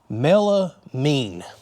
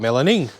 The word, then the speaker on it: melamine: let's look at it melamine i've been saying it wrong all these years i call it melanin but anyways here's some